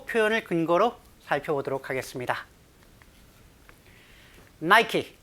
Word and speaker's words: Nike: Nike, 니케라고 읽지는 않겠죠. Nike, H&M, and other big Western brands.